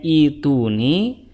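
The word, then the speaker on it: ائتوني: Nah, karena di sini itu hamzahnya itu berharokat kasroh, sehingga hamzah yang kedua diganti menjadi ya, sehingga didapati ituni. Jadi cara bacanya seperti itu. Oke, sekarang kita dapati kenapa dibacanya ituni, karena asal musalnya adalah itiyuni.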